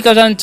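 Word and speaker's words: catch: आपको ध्यान रखना है तो इसे क्या पढ़ेंगे हम कैच पढ़ेंगे ठीक है टी सीच का उच्चारण जो है च हो जाता है तो कैच का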